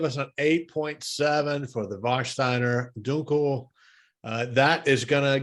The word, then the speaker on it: Warsteiner: That gives us an 8.7 for the how do you pronounce this? Warsteiner.